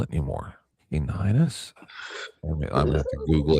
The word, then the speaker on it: Caninus: I don't know how to spell it anymore. Caninus?